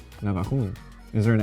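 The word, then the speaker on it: Navajún: So these are from Navajun. Navajun. Is there an accent on the U at the end? Yes. Navajun.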